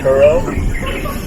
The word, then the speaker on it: Cuore: How do you pronounce that? Churro.